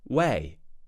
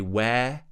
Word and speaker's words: way: so instead of day we're going to say way ww way way remember not to say where say way finish with that e sound at